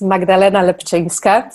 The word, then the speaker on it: Magdalena Lepczynska: for the introduction so my name is magdalena lepcheska so you're very close congratulations on pronunciation and